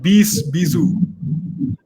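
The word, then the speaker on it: Bisou: do you go about that it's called Bizu Bizu it's called Bizu 20 right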